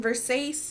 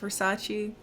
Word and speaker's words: Versace: really nice and she's like oh it's from versailles and he's like oh it's pronounced versace what i gather is that that's supposed to